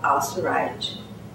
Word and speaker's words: Al-Suwaij: And I'm delighted to have a friend and member of the advisory board of the center, Zainab Al-Suwaij. Did I pronounce that correctly? Al-Suwaij.